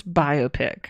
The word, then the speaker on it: biopic: pronounced biopic or biopic it's biopic well I mean iopic is something else right I know it's biopic like it's a biography picture right like I know